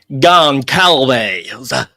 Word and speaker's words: Goncalves: Goncalves.